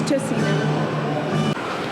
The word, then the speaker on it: Tocino: I thought the pronunciation was Tocino, actually. It's Tocino.